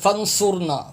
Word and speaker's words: فانصرنا: اور صاد بے سو۔ اب یہاں بھی لوگ سین پڑھتے، سیڑھی کی آواز نکالتے، فنصرنا فنصرنا، یہ غلط تلفظ ہے، صاد ہے، صاد را